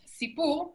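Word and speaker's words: סִפּוּר: Y la última es sipur, y significa cuento.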